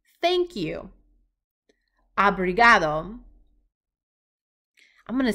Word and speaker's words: obrigado: Obrigado. I'm going to say that one again. Obrigado.